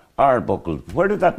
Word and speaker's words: Arbuckle: evening is Young Keelan you pronounce the second name Arbuckle Arbuckle yeah yeah your manager and your family was in you're not pronouncing a right Frank AR buckled where did that name